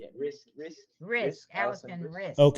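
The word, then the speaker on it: Riske: Allison Risque Amora, if I pronounced that right, from Peter's Risk Risk Allison Risk.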